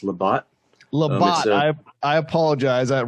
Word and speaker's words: Labat: i'll go by the bat but it's it's pronounced labott i apologize that right when i said that